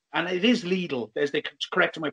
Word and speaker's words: Lidl: And it is Lidl, as they corrected my pronunciation.